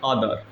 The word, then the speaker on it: other: ठीक है, अगला है OTHER, इसे पढ़ रहे हैं अदर।